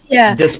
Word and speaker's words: dyspraxia: There is dyslexia and there is is it pronounced Dyspraxia. Dyspraxia.